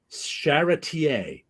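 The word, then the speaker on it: Charretier: not that it's Elsa sharer don't pronounce the R I was told that's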